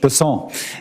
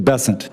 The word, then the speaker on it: Bessent: Cassidy um Mr bassant I'm always going to pronounce your name as if it was in south Louisiana and I'm gonna pronounce it with a French basson as opposed to bessent that's what those folks in South Carolina do um I'll try let